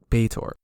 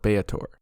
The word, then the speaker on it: Baator: So I think I'll use a middle ground pronunciation and call it Baator.